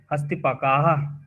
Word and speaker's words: हस्तिपकाः: पकाः नहीं पकाह नहीं, पकाह।